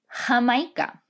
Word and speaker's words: Jamaica: on our map here jamaica or how we pronounce it in spanish hamaika now you're going to